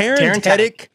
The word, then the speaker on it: Terentatek: Tarantetic? Tarantetic. Yep, Tarantetic.